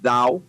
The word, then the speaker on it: DAWW: First thing, DAWW is pronounced DOW.